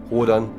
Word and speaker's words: Rodan: Rodan, dont le nom se prononce même correctement Radon dans le doublage allemand, n'a pas changé, tout comme le costume de King Ghidorah.